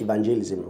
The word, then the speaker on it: evangelism: In fact, they will say it's church evangelism. Wrong. I'd actually corrected church earlier on. So the word is not evangelism, it's evangelism. Evangelism, the stress is on the van.